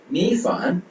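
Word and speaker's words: 米饭: ஸோ இந்த C இதை நம்ம ப்ரொனவுன்ஸ் பண்ணும்போது இந்த சவுண்ட்ல ப்ரொனவுன்ஸ் பண்ணுவோம். சாய், சாய், சாய், சாய், சாய்னா டிஷ், உணவு. ஓகேங்களா? மீஃபான், மீஃபான், மீஃபான், MI, மீ FAN, ஃபான், மீஃபான், மீஃபான், மீஃபான், மீஃபான், மீஃபான்னா சாதம், உணவு, ஒயிட் ரைஸ்.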